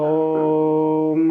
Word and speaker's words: ओम: ओम, कोई तो हो की आवाज़ निकालता है, कोई ह की आवाज़ निकालता है, तो गलत उच्चारण है।